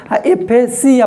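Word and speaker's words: aphasia: एफेसिया pronunciation देखो, जिया और Siya. एफेजिया, जिया का मतलब घोंटे में दिक्कत हो रहा है, और सिया का मतलब कि डिफिकल्टी इन स्पीच।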